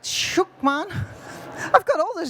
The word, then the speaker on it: Schuckmann: marer ocean international and her name is Karina vonlukman. Did I say it right? Shookman, man.